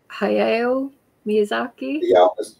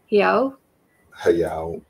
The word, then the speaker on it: Hayao Miyazaki: Also, I'm going to pronounce this wrong. Hayao Miyazaki. Miyazaki. Hayao.